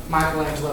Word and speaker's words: Michelangelo: Michelangelo, or a lot of people say Michelangelo, but Michelangelo is a proper pronunciation, was born on March 6, 1475 in Caprice, Italy.